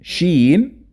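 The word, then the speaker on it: شين: And let's quickly know how to pronounce each of them. Seen, sheen, and the next pair, sod, dod.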